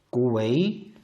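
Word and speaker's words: ก๋วยเตี๋ยว: 그래서 발음 은 ... 꼬웨이디오 입니다 . 4 음이 됩니다 .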